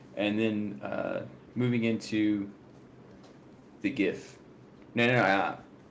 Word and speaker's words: Giff: It's GIF. That- It's good. GIF, like Google. GIF and Google. It's a G. It's G. It's G. It's not a J. It's not a GIF.